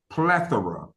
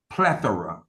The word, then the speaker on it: plethora: It's plethora. That's P as in Paul, L-E-T-H-O-R-A. Plethora. Sometimes some pronunciations is plethora, but basically, generically, it's mostly plethora.